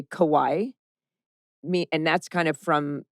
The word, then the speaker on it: Kauai: And then at the end, she says, what do you think about the educational system in Kauai?